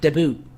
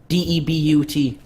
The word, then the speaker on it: debut: No, debuting, like debut. His debut is today with the team. DEBUT.